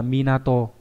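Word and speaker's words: 港: Đọc âm cương là Minato. Đấy, cảng của Mỹ Nato đấy, các bạn có thể nhớ cách đấy để nhớ âm cương nhá.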